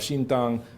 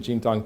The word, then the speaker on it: Xintang: There's an example of Xintang, and that's my bad Chinese pronunciation, Xintang, China, where there's a city known as Jean